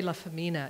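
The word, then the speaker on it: LaFemina: Anyway, he was also very wild as a young fellow, and Jerry La Femina, is how you pronounce it, is his name if you ever look up his work.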